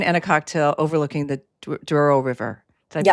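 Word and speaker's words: Douro: So you can have port wine and a cocktail overlooking the Duro River. Did I pronounce that correctly?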